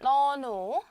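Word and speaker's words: น หนู: 그 다음 밑에 거 보시면 너누, 너누, 너누, 평성, 사성이죠.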